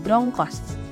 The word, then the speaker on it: brongkos: Namun, di lidah orang Jawa pengucapannya berubah menjadi brongkos.